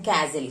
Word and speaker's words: castle: Okay, then castle. Castle means a large strong building. Okay, castle is a large strong building, and this large building, okay, that we call as castle. T is silent here.